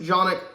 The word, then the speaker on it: Canik: Made by Canik, or otherwise pronounced Canik, from my understanding.